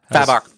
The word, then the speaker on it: Fabok: This past week, Josh's Talk Explode came out with Jason Fabok. Is that right? That's not right. Was it? How do you say his How does he last pronounce name, that, Josh? Fabok.